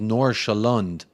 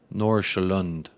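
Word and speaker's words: Nordsjælland: then see Sherman says nor shalonde nor shalonde is how you say that that team name from earnest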